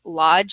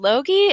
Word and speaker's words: Lodge: you know who Lodge is which is not how my name is pronounced and they're like Loi Loi yeah that's